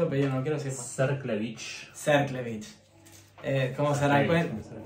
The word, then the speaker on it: Cerklewicz: Serklevich.